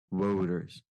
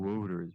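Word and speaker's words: Wouters: just keeps saying whoa voters voters it's such a hard name to pronounce um yeah yeah w-o-u-t-e-r-s it's like routers but with a w yeah routers better routers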